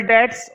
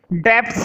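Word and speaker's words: debts: Total डेट्स, और एक दे रखे हैं लॉन्ग टर्म डेट्स। हाँ ये जो डेट्स लिखा हुआ है ना, डेट्स पर अंडरलाइन करो। डेप्ट्स नहीं पढ़ते हैं इसको, डेट्स पढ़ते हैं, बी साइलेंट होता है।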